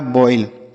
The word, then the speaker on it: boil: अब ओ के साथ आई रहता है, यह भी चीज़ हमने बताया है कि ओ के साथ अगर आई रहता है, पीछे की वीडियोज में बताया है, ओ के साथ अगर आई रहेगा तो इसका उच्चारण जो होगा ऑय के रूप में होगा।